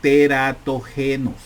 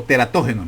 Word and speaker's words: teratógenos: la acción de los teratógenos, o teratógenos, mejor dicho, así se escribe, así se lee, teratógenos.